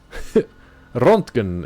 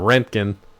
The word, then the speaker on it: Röntgen: Thank you, Chernobyl, for how to say Rontgen. Rontgen. I don't know how to say it. Rontgen. You probably don't roll the R. Let's see. Rontgen. Röntgen is UK. And Röntgen is US. Oh, we're so dumb.